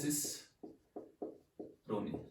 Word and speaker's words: cicerone: देखिए सिसरोनी वैसे इसकी प्रोनाउंसिएशन है सिसरोनी, ये हो गया सिसरोनी।